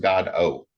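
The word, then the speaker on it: Godot: of the original developers said it should be pronounced God o so the T gets pronounced like an O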